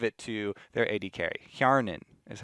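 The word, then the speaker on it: Hjärnan: Hjarnan is how you say that.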